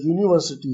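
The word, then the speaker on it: university: लेकिन एक लफ्ज जो है वो यू से यूनिवर्सिटी है, यूनिवर्सिटी, जबकि यू एक वॉवल है लेकिन इसकी अदायगी ऐसी है जैसे ये वाई से शुरू हुआ है, यू, यूनिवर्सिटी,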